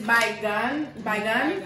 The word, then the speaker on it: baigan: So it's bygone. So you pronounce it good.